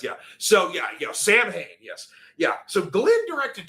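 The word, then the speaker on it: Samhain: It's pronounced Sam Hayne if you're talking about the band.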